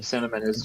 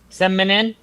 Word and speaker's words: cinnamon: The one of the earliest mispronounced names by children. I was one of the ones that I think I pronounced it seminin. Right off the bat, seminin, and cinnamon.